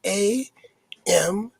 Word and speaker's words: Amen: And that catalytic agent, the Egyptians call their one God, and you may have heard this word before, is spelled A-M-E-N.